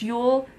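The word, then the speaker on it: Yule: differently but it's like J L but it's pronounced Ule is it has a very thick accent attached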